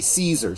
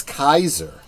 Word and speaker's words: Caesar: I mean it's like how many people say Caesar Caesar Caesar it's Kaiser yeah and a Kaiser